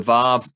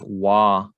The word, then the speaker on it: Vav: you can see that they have Wa as the name for the Vav. Some people might say there's no Vav sound in Hebrew, except it's not true.